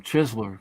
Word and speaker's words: Chesler: cool one afternoon delight you pronounce a Chesler or a chisler chessler Kessler yeah as I work for him call him chisler because that's what he wants chisel okay I didn't